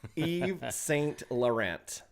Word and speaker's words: Yves Saint Laurent: So, capital Yves Saint Laurent. Is that the right pronunciation? Yes. Laurent. Yes. Laurent. Yves Saint Laurent.